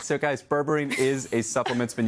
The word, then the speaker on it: berberine: Berberine, right?